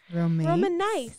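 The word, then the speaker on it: romanice: there's another word and this one is spelled r-o-m-a-n-i-c-e roman nice and that is latin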